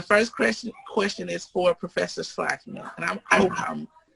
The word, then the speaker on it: Schlakman: The first question is for Professor Slackman, and I hope I'm pronouncing your name correctly.